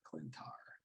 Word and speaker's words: Klyntar: klyntar i like that it's um it's actually spelled with a k like k-l-y-n-t-a-r klintar so for us non-comic book creators are just